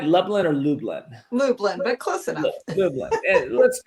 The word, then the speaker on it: Lublin: Lublin, but close enough.